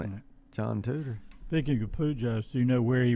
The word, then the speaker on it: Pujols: Pujols. Pujols. Like you dig holes in the ground.